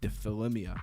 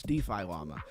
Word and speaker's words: DeFi Llama: I was trying to say it like one word like defilimia or something like that. No, it's DeFi llama.